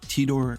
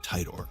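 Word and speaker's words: Titor: Some pronounced it tedor. I'm going to pronounce it Tidor like fighter.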